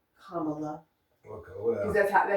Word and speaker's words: Kamala: So that's why you see a lot of shirts now that just have like a comma and LA on it. So it's Kamala. Kamala, yeah.